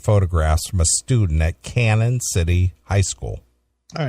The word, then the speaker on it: Canon: room for my pronunciation is it not canon it's c a n o n that's Canon Canon yeah Canon City police uh